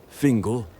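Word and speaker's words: Fingal: To speak of Fingle as his name is pronounced in English as opposed to Fon Makul in Newfoundland.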